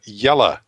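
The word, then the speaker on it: Jelle: l l e says pronounce like yellow but replace the o w with e as you pronounce it in yellow so that's yellow i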